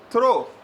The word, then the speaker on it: throw: तो teachers training लेते हैं, मैंने बोला आई थ्रो, प्रोनाउंसिएशन भी अलग है, एक थ्रो है एक थ्रू है।